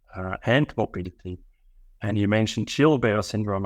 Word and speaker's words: Gilbert: morbility and you mentioned children bear syndrome I pronounce it chill bear syndrome uh which is a